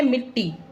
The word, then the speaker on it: मिट्टी: अब पहला है मिट्टी, है ना, शुद्ध उच्चारण करना है। पहला क्या है? मिट्टी।